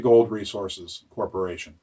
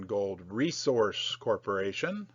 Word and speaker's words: Gold Resource Corporation: about that back to gold resources corporation gold resource corporation not resources for years i called